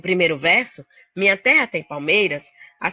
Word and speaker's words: palmeiras: A sílaba tônica da palavra palmeiras é um MEI, é uma paroxítona.